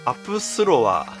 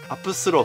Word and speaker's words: APSULOV: apsu iou v かこの v のところをねブって読むのかと思ったらふって読むみたいですねということな